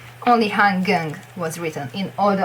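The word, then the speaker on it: Han Geng: So if you're reading Hangyang, that's probably a subtitle or a fanfiction or a comment. It's HanGeng, how it should. But Koreans probably say Hangyang, but they never write it down like that. So yeah, so it's like weird, really. No, I don't really like to read it like that, but I do pronounce it like that.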